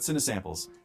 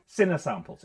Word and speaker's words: Cinesamples: He's going to tell me how to pronounce it. Mike here with Cinesamples. Cinesamples.